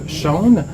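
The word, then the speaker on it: Sjón: Le nouveau très court roman de Shaun, S-J-O-N, qu'on prononce, si je ne me trompe, Shaun, Blond comme les blés.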